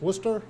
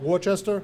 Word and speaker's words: Worcester: right so I understand that Worcester is pronounce Worcester not Worchester in that Leominster is